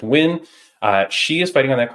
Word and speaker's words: Nguyen: You might know it as Nguyen, but I think it's pronounced Win.